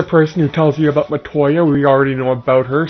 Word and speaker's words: Matoya: Matoya, not Matilda, Matoya. Okay, I got your name